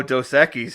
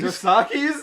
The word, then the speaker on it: Dos Equis: Oh, Dos Equis. He was calling it Dos Equis. Dosaki's?